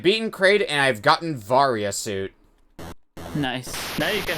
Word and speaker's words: Varia: it pronounces it varia no I'm saying because it is varya now but it was originally supposed to be barrier suit and it got put in the various suit in mistranslation right yes what do